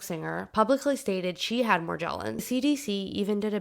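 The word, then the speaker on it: Morgellons: It's actually pronounced morgllins.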